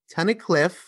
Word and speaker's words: Tunnicliffe: Tunnicliffe. Perfect. We were just talking about if I would pronounce it right.